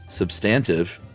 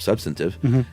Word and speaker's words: substantive: Uh, for example, in the recent Roie Wayade episode, Chuck at first pronounced substantive with the accent on the second syllable and instead of substantive, and it made such